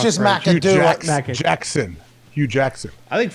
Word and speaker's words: McAdoo: I think you gave it 4 syllables. I think it's only 3.